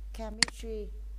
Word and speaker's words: chemistry: ch viết là TS chemistry à CH này không phát âm là tr phát âm là C thì chúng ta mới đọc là chemist chapter chapter là thì